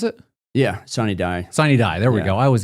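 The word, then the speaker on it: sine die: Uh, sid how do you pronounce it? Yeah, sid. Siny die. There we go. I always get it mixed up. Siny die.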